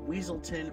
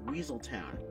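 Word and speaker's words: Weselton: a running gag of characters mispronouncing the province where the duke is from calling it either weaselton or weaseltown duke weaselton in zootopia continues the reference with judy hopps calling him wesleton instead of weaselton and duke immediately corrects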